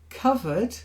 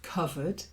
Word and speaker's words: covered: read fowl bear legit covered not like Cove covered knee knees uh sorry